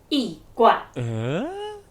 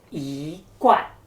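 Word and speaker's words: 一罐: So, if I pronounce two fourth tones in a row, like yi guan, it might make me sound like a grumpy old man. Instead, let's change the tone to the second tone, like yi guan. Can you hear how the rhythm sounds much more pleasant now?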